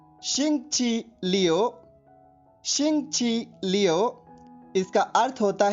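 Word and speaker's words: 星期六: Spelling note कीजिए, XINGQILIU। एक बार फिर सुनिए, XINGQILIU। ध्वनिवादन सुनिए, शिंगची लियो, शिंगची लियो, शिंगची लियो।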